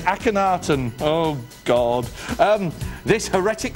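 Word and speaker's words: Akhenaten: a woman oh it's apparently sorry apparently it's pronounced akatan aanan so it's not a caneton it's akenaton oh god um this heretic Pharaoh revolutionized religion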